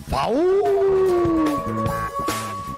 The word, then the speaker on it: FAW: FAU se escribe FAW y se escucha FAU.